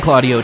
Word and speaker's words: Claudio: an opportunity Alex Claudio it's actually pronounced Alex accent over the ACE or not Alex Alex after Puerto Rico Blackman swings and pulls one foul full count from San Juan Claudio 28 years old went